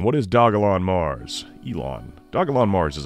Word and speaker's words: Dogelon: could do worse i think so what is dojo here i'm pronouncing it wrong what is dogalon mars elon dogelon mars is a dog-themed meme